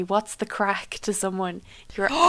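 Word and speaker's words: craic: I think it'd be cool, but yeah, I'm just gonna keep on with my story about crack, right? It's spelled C R A I C and it means like fun and kind of joviality or jovality.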